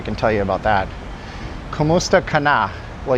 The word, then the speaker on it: kamusta: Kamusta cana. Well, you spell that wrong. It's ku m u s t a kamusta. And then you don't say ka, you say kamusta.